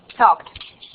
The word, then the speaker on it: talked: Entonces es una T, no D. Talked.